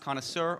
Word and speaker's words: connoisseur: It's pronounced connoisseur or connoisseur.